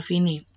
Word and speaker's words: fine: Fine, kenapa dibacanya fine? Itu karena menggunakan bahasa Latin atau Italia ya.